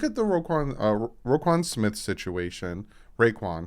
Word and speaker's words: Roquan: Raekwon. I think it's Raekwon Smith. It's with an O, so I'm just gonna call him Smith because I know I'm gonna say his name wrong.